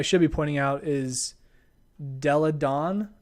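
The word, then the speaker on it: Delle Donne: Her name is really interesting. It's kind of hard to pronounce because it's got a bunch of extra L's and N's. Della Dawn, actually. Come on. Elena Della Dawn is, I think, how you say that.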